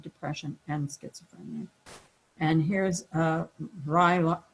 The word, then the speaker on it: Vraylar: And here's Vraylar, I never say it right, Vraylar, that's it.